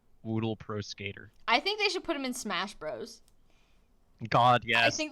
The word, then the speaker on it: Woodle: I assume it's supposed to be pronounced Woodle, as in, he's made of wood, but I think his name is Woodle.